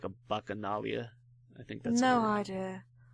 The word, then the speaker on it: Bacchanalia: Yeah, it's bacchanalia, I think. Oh. Not bacchalia.